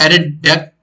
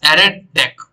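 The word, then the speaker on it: ArrayDeque: most Advantage thing of edit tech class uh sorry for my wrong pronunciation it is added deck not editing you but yeah you can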